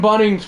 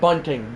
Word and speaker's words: Bunning: And Jim Bunning's 42nd delivery is coming, not Bunting. Bunning is that is ball 1.